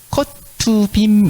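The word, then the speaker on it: כתובים: 그다음에 이거는 컷투빔 이렇게 읽어요.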